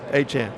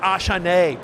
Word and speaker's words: Achane: But how you pronounce my name is Achane. Achane. Yeah. There you go. Exactly. It's not Achane, producer Damien, as well.